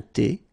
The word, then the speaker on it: thé: Un café glacé, un thé, remember H is not pronounced.